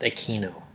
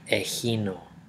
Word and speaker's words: Echino: But in Greek, echino is really not pronounced echino. It's actually echino. And echino in Greek means spiny.